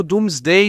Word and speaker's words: Domesday: o passado da Inglaterra é pronunciado doomsday mas escrito domesday d o m e s d a i não porque os dormos não sabiam soletrar mas porque D era D antes do grande deslocamento de vogais assim o rei